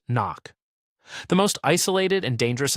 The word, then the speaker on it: NOC: Non-official cover, NOC, pronounced knock.